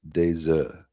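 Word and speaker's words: œufs: And if it's uh if it's multiple, then it's desa. You don't pronounce the f.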